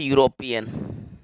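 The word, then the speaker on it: European: इसको पढ़ा जाता है यूरोपियन। यूरोपियन, ठीक है, ये इसका साउंड होता है यूरोपियन। इसमें ई जो है ये साइलेंट है। ई को साइलेंट करके आपको पढ़ना है, तो आप इसको यूरोपियन पढ़ेंगे।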